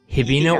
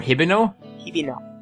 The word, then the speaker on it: Hibino: um i think it i think it's pronounced to be norihiko hibino or hiberno yes that's that's what